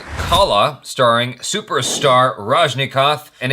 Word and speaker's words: Rajnikanth: Did I say his name correctly? Rajnikanth. Yes. Rajnikanth. There's an N in there I was missing. Rajnikanth.